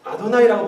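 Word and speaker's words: Adonai: 근데 이게 아라고 하는 거 약간 어에 가까워요. 발음이. 이렇게.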